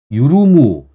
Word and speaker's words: 율무: 제가 이것도 말씀드리려고 하는데 유르무, 이게 이 제품이 맨 위에가 율무잖아요. 율무지만 유르무라고 읽어요.